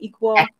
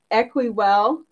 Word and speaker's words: Equiwell: Equal? Equi, actually. Like equity. Equiwell.